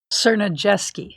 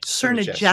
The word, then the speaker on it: Cernajeski: Cernajeski. Cernajeski. Is that the running gag? You can never quite say it right. Najeski. All right, I'm Cernajeski. It's like Najetski. No, like Cerna Jetski. Right. Like CERN. The lab in Switzerland?